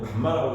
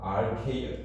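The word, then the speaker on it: γ: 자, 어, 감마 S는요 감마라고 읽어요. r이라고 읽으면 안 돼요. 그다음에 건조단이 중량. Rk 자, 감마 r 읽지 말라고.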